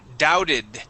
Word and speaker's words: doubted: This word is doubted. Okay. The B is silent.